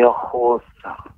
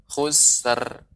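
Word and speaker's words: خسر: Innal insana lafi khusr. Khusr. Innal insana lafi khusr. Iya. Kemudian juga untuk permisal yang lain juga, pengucapan ro ketika disukunkan ya, tapi tetap ro tebal, bukan khusr.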